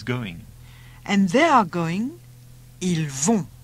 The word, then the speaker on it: ils vont: Ils vont. Notice all the plural ones end in ont and are pronounced on.